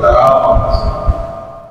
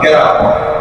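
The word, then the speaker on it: কারামত: একটি শব্দ হল মজিজা আরেকটি শব্দ হল কারা কিন্তু আমাদের সমাজে প্রতিটি শব্দকে ভুলভাবে উচ্চারণ করে মানুষ বলেন শব্দটি হল মজা মানুষ অমুক গ্রাম কেরামত অমুক বুজুর্গের কেরামত শব্দটি কেরামত শব্দটি হল কারা বাংলাদেশের সমস্ত মাদ্রাসাগুলোতে আকিদার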